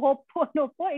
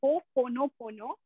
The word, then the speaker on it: Ho'oponopono: It's not hope. No, Ho'oponopono. It is Ho'oponopono.